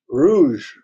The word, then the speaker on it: rouge: Rouge.